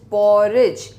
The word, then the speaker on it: porridge: Next is पॉरिज, PORRIDGE। डी को मत भूलना, प्रोनाउंस बोलते वक्त पॉरिज में ड नहीं आता है, बट स्पेलिंग लिखते वक्त डी को नहीं भूलना।